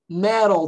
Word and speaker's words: metal: Olha a pronúncia, metal. Metal detector. Ok? Metal, não é metal detector. Esse T do inglês, ele é mais sutil, ele é um toquezinho na língua, ele parece um R.